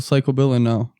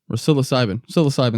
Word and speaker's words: psilocybin: I just They have water soluble psychoanilocybin. Psilocybin. That's how you say it.